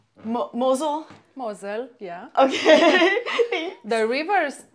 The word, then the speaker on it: Mosel: Mosel, yeah.